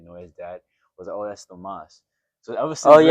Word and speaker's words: Thomas: yeah but no I'm just Thomas or Tom but you can call me Tomas I mean it's like at this point I'm just like oh yeah that's with Jeremas. That's how I pronounce my name.